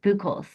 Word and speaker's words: Buholtz: she states, Oh, it's built is how you pronounce it. Buholes.